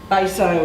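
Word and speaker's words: Betio: and at baso and the thing that you very quickly learn about kiribati is that ti is pronounced so baso is spelled beto and of course kiribati is spelled hirabati but it's never pronounced that way so that's what it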